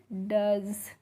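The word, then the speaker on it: does: तो डी ओ ई एस को आप पढ़ते हैं डज।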